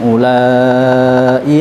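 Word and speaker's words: أولاء: Qala hum ulai ala athari wa ajiltu ilaika rabbi litardha. Lafadz ulai di situ ada wawu yang jatuh atau didahului dhammah tetapi dibaca pendek atau dianggap tidak ada.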